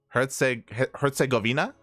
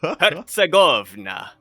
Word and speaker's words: Herzegovina: Wait, is it Hertz or Hertz? Hertz, right? Wait. Herzegovina? No, but does Hertz have a T? Herzegovina. It's just like when you have 200 megahertz or whatever. Herzegovina.